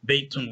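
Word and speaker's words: بيت: Now remember, when you're making a statement in Arabic, when you say the word by itself, or at the end of the sentence, you don't really have to pronounce that last vowel. You don't have to say, Haadhaa baitun, or baitun when you say it by itself. You can say bait, Haadhaa bait.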